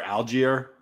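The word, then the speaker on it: Allgeier: I never pronounced this guy's last name right, but Tyler Algier, how do you pronounce that? I think that's right, actually. I think you nailed it, Algier.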